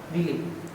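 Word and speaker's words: villi: Mucosa की, ये है बेलाय। ये म्यूकोसा नहीं है, ये क्या, बेलाय है ना, विली, कोई विली बोलता है, कोई बेलाय बोलता है, सब अपना अलग अलग प्रोनाउंसिएशन करते हैं।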